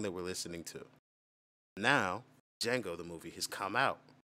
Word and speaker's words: Django: we're listening to now django the movie has come out what's django telling how about spelling his name oh the d is silent i'm like oh you're